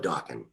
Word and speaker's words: Dokken: let's just call it dawkin because my name is unusual and it rhymes with rockin but i i had